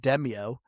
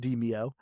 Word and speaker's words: Demeo: was just Deio, which unless you're a dumb American like me, I just kept pronouncing it Deio, but apparently it's pronounced Deio.